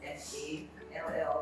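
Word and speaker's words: Fall: have with us an MPhil Materials Engineering student, Aminata, but it's spelled F-A-L-L like for it's pronounced Fal.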